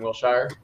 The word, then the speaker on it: Wilshire: It's right across the street from WME on Wilshire. Cool. So, Pronounced Wilshire.